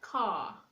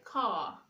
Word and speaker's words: car: We have examples like car. You say car, far. The letter R is not pronounced.